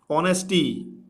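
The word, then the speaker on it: honesty: बाकी अ से लेके अह तक जब साउंड निकलता है, कुछ वर्ड्स में कुछ अल्फ़ाबेट साइलेंट भी रहते हैं, तो वहाँ पे हम एन का प्रयोग करते हैं। ऑनेस्टी, ऑनेस्टी इज, ऑनेस्टी इज, ऑनेस्टी is dash best policy.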